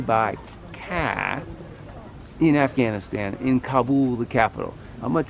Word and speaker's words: Kabul: So first note to my fellow Americans, we have been getting the pronunciation wrong because of our American media. It's not Kabul, it's Kabul.